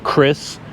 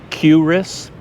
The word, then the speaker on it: QRIS: People pronounce it two different ways, QRIS or QRIS.